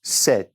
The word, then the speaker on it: sept: 7, don't really say that P. You say sept, sept.